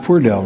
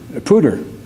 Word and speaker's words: Poudre: And as for the third winner, it's pronounced Purdell, right? Pooter. What am I getting? There's nothing wrong with me. You can call me Bidden. It's okay. I often get called Bidden. The Poudre Valley Health System is amazing.